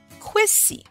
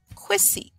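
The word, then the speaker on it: Kwesi: were born on Sunday your name would be quiz see now here they have it written as quazy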